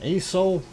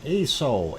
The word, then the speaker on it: Aso: And moving on, we will take a look at ASO.